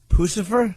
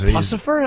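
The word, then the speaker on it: Puscifer: Instead of Lucifer, they put a P instead of the L. Pucifer?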